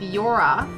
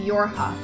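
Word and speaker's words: YoRHa: robot head that's very creepy hey you're with yora it's pronounced your ha okay you're with your ha right my mask it's an electromagnetic wave shielding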